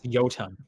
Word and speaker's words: Jotun: I think it's Jotun. I think the J's are pronounced as a Y.